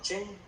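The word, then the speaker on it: חֵן: antiguo, se encontramos como la palabra chen, se escribe C-H-E-N, así como suena, y es la H2580.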